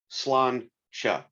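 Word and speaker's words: sláinte: very kind of you i say slancha phonetically slan shah gaelic for cheers but everyone knows that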